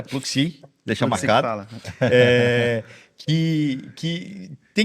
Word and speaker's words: Pluxee: E talvez vamos começar pela Pluxee, que eu estava falando errado até agora, é Pluxee, deixa Pluxee marcado. Que tem que trabalhar muito com escala. Eu pronunciava Sodexo.